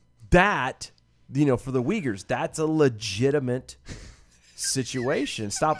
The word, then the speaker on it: Uyghur: the begins with the you in china the uyghurs it's it's pronounced uyghur oh i apologize it's spelled jugger